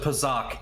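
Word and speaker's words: Pazaak: Pazak. Pazak. Pazak. Pazak. Pazak. Pazak. Pazak. There. We'll you can just go talk to uh they pronounce it pizzach in the damn game.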